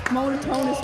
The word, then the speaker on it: Monotonious: And that name, the last name though, it's made up, it's 5 syllables long, and it is literally, it's Monotonious with an I.